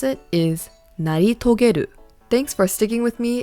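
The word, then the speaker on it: 成し遂げる: Again, how to pronounce it is naritogeru.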